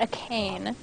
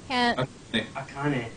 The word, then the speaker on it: Akane: correct me on pronunciation is it akane or is it a cane akane Okay cool so I was right yeah she is my